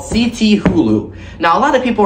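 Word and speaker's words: Cthulhu: season they have released this new prop called CT Hulu now I couldn't pronounce the name at first until just a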